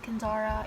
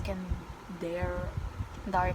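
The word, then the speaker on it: Kendare: good by kenzari blake kenzara i just heard a video of them pronouncing it kenzara even though it's can dar blake by the way the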